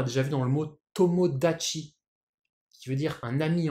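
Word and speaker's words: 友達: vu dans le mot tomodachi, qui veut dire un ami en japonais. Alors, effectivement, c'est le même kanji, hein, c'est juste que le ta est devenu da, hein, tomodachi.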